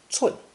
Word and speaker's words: 寸: It's pronounced 寸, 寸.